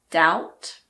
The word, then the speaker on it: doubt: There are also a few words in which the B is silent before the letter T. These words are debt, doubt, and subtle.